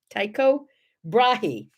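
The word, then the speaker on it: Tycho Brahe: death in 1601 of i think it's pronounced taiko tako taiko brahi he was a an astronomer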